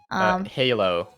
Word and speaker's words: halo: Halo. Okay. So the way to say Indonesian, the A, we go ah. Yeah. So we say it like halo.